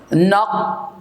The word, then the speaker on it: obnoxious: It's called, it's pronounced obnoxious. Obnoxious. 3 syllabes. Obnoxious.